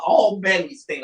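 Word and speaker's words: Albany State: by three nobody was talking about Alabama's uh all Benny state I'm sorry let me make sure I say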